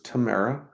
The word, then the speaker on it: Tamara: My name is Tamara. Rhymes with Sahara. Watching and sending good vibes from Northern Virginia. Awesome. Well, welcome, Tamara.